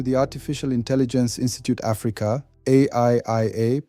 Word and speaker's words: AIIA: Welcome back to the Artificial Intelligence Institute Africa, AIIA, pronounced Aiia, Ubuntu Guild's videos on AI.